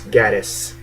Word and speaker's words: Gatiss: I hope that's how you pronounce his last name. It's not Mark Gatiss, it's Gatiss.